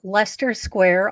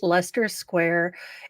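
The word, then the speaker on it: Leicester Square: is right around um it's uh Lester Square although it's spelled light look they're trying to trick me but it's Lester Square it's where um this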